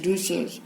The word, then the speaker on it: Rousseau: Philosophers like Voltaire and Rousseau, we pronounce this word as Rousseau, they inspired people to rise against all forms of inequality, injustice and corruption.